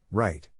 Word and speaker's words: write: the participle is written the present tense is pronounced right pay attention to the